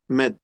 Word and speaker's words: Ahmad: Por ejemplo, mi nombre no es Ahmad, es Ahmad. Igual, cualquier palabra tiene el ha, hace falta pronunciarla.